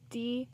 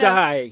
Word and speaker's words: die: D. Okay, so this one, you see how it's die. It's not D. It's die. No, but no, it's pronounced Vitein.